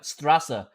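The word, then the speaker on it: Straße: There's an, okay, well, it has the B in the sign, and that is pronounced with an S in English. Well, in German, I guess. It's Strasse, which means street, and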